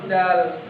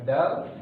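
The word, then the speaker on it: دال: Huruf dal adalah huruf ujung lidah. Ya, caranya adalah dengan menyentuhkan ujung lidah pada pangkal gigi seri depan bagian atas.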